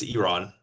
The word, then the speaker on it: Iran: Sorry. I keep saying I'm gonna say Iran. It's it's Iran. Okay, that's how you say it.